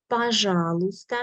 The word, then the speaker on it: пожалуйста: Пожалуйста means please. Letter Y we do not pronounce.